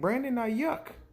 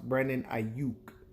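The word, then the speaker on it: Brandon Aiyuk: me you just brat drafted some receiver named brandy yuck I said now mommy no we don't pick till 31 she said no it says right here on the TV Brandon Knight yuck and I said oh no mom it's pronounced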